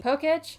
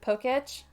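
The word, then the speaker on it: Pokétch: Yeah, I'm going with Poketch. I think that's generally how most people pronounce it. It does make the most sense to me. In any case, you don't have a Poketch yet.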